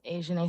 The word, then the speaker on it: Azhanae: My name's Asian Smith. It might be hard to pronounce, but it's all right.